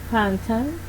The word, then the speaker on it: phantom: When the P is accompanied by the H, it would sound like F. Example: phantom, face, graph.